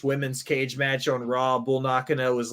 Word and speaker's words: Bull Nakano: Bull Nakano, did I say that right?